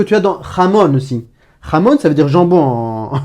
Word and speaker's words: jamón: Jamón, ça veut dire jambon en espagnol. C'est du jambon halal ici. Jamón, ça commence par la jota, le J espagnol, et ça se prononce j.